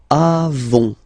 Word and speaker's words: avons: Then nous avons, final s not pronounced, avons, okay.